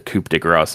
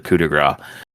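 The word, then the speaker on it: coup de grâce: Um, and I know that's not how that's typically pronounced, but that's literally what he calls it, the coupe grass instead of the cudigra.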